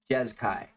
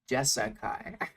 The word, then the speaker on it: Jeskai: jessica walkers jaz kai people insist that i say it wrong on purpose i assure you i don't bad habits just die really really hard jazz kai jezkai jazkai not jessica come on hgg we've